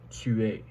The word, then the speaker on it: tu es: The S on the e is silent, so you only hear the E, so you only really pronounce the E is what I meant.